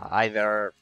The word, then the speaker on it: either: Well, it's, you can use the British or the American one. Either.